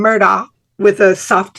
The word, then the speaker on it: Murdaugh: is the news media at large has been pronouncing the name of the perpetrator now convicted as Alex Murdoch and we've been doing that too if you